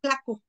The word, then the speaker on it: tlaco: del siglo 1 también como costaba trabajo a los españoles pronunciar la t lo sustituyeron por la cl claco claco es como más fácil de pronunciar entonces pues ahí tenemos